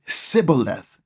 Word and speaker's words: Shibboleth: When fleeing Ephraimites tried to cross the Jordan River, they were asked to say Shibboleth. The Ephraimites didn't pronounce it the same way as the Galileites and said Sibboleth instead, revealing their identity.